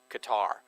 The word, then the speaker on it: Qatar: I think it's pronounced Qatar, actually. Yeah, it is Qatar. But we're from Texas.